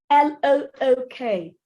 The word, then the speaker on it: look: So if I take off the L, bye, and the K, out you go. I am left with the O-O that says oh. So that's the sound.